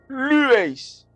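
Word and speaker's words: λύεις: Ce sur quoi j'appuie, c'est le lu, parce que vous voyez, c'est là qu'il y a un accent aigu, un accent tonique. Ça veut dire que c'est cette syllabe, c'est sur cette syllabe que je dois insister.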